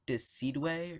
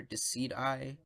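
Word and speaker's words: Decidueye: how its evolution so i believe it's pronounced dis seedway or deceit I but anyways I really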